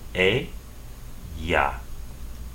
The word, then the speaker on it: ella: Instead, double L in Spanish will be pronounced ya. So the word for she in Spanish is pronounced e, ya.